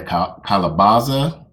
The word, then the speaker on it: calabaza: Naked Gardener, she harvests a lot of the calabaza.